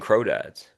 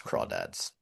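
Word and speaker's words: crawdads: I watched I read the book, watched the movie, and she keeps saying Crow Dads. Yeah, it's Craw Dads.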